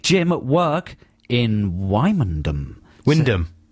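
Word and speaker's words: Wymondham: at work in wondom Windom no it's not spelled like that yeah but sometimes things are spelled in a different way to the pronunciation fourth one down won yeah Windam that's in Norfolk that's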